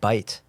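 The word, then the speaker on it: בית: And I said, well, how do you pronounce that? And he said bite.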